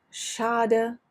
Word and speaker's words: schade: Now on to SCH, which is a doddle compared to CH, because SCH simply makes the sound sh, like SH in English. Sh, the C is never pronounced. Like schade, Schuh, that shop, or maybe the most important, Deutsch.